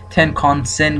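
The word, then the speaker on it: Tenkan-sen: ان که معمولا با تی ان نشون میده تنکانسن گفته میشه خونده میشه تلفظ میشه و با تی ان نشون داده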